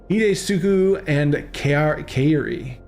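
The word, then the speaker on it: Hidetsugu and Kairi: Hidesuku and Kairi. That's how it's pronounced. Hidesuku and Kairi, a legendary creature with 2 monoliths, 2 blue and 1 black.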